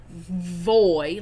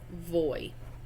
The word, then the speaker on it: voy: And yes, I realize it is pronounced. I just like gave a whole thing about pronunciation and then I pronounced it with a hard V.